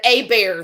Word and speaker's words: Hebert: Well, they spell it Hebert and pronounce it Abear, and I was like, oh, okay.